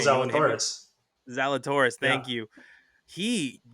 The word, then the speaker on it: Zalatoris: then my boy Will Z, because I can't pronounce his oh, last Will name. You want to hit me? Zalatoris.